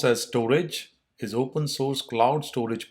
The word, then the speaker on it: Storj: the description says right what is storage storage pronounced as storage is open source cloud storage platform basically it